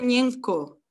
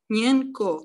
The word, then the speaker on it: Ñenco: Se pronuncia Ñenco. Ñenco. Ñenco, vale. O sea, está bien escrito, como tú lo escribes, pero se pronuncia Ñenco.